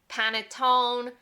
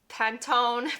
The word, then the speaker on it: panettone: Especially around the holidays, you might hear somebody say panettone or pantone, but the right way is panettone. Panettone. Those last 2 syllables, the to, ne, are key. Panettone.